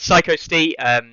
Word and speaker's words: Psycho Stee: Anyone who knows, been here for a while, will know that absolute meme that is me not pronouncing his name correctly. No, but Psycho Stee from Liverpool, who I finally got to meet in person.